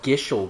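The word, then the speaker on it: Gysahl: thought they were called gishel greens I know it's spelled gazal but I thought it was pronounced gishel sick yeah so we do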